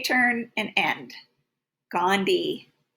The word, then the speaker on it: Gandhi: j turn and end gandhi here's that silent h again all right moving on